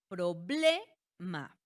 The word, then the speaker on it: problema: Sí, tenemos como ejemplo problema. Problema volumen. Ya más o menos intuvimos ahí que tanto la palabra problema como volumen no llevan tilde. Y vamos a ver ahorita por qué. Pero bueno, ya teniendo en cuenta que su sílaba tónica recae en la penúltima, entonces sabemos que son